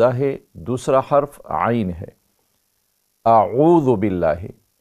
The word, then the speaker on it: اعوذ: دوسرا حرف عین ہے، اعوذ باللہ۔ لیکن اکثر غلطی یہ ہوتی ہے کہ ہم پڑھتے ہیں اعو اعوذ، تو یہ تلفظ اس کا غلط ہے۔ اعو حمزہ زبر عین واو پیش عو، اعو اعوذ باللہ من الشیطان الرجیم۔